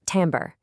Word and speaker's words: timbre: It's pronounced "tamber".